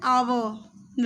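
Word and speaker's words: hour: ए, एन ऑक्स, एन आवर। वैसे तो H start होता है कॉन्सोनेंट से, पर जिसका उच्चारण होता है तो वो हम एच को हम साइलेंट मानते हैं, तो एन आवर, an exercise, N इंक पॉट।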